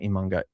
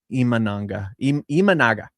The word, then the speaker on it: Imanaga: Him and Imanga are, sorry, not Imanga, Imanaga.